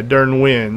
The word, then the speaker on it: Durnwin: Yeah, Durnwin, that's how you pronounce it.